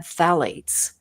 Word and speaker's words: phthalates: They add phthalates, mm-hmm. spelled with a P, and that's what allows it to grab on to your skin and to fabric.